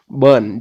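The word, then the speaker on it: Bern: तो बर्न याद रखिए, पोस्ट से आप बर्न, जो कि स्विट्जरलैंड है, जिस वैसे बर्न BURN है, लेकिन इसका उच्चारण एक ही है, बर्न इसका भी।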